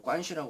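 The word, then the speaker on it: 关系: 그런데 그 관계의 그거로 중국 발음으로 관 시라 그러나 봐요 그래서 이제 그 그런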